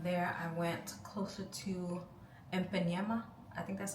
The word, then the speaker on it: Ipanema: And then from there I went closer to Ipanema. I think that's how you say it, Ipanema, in Brazil.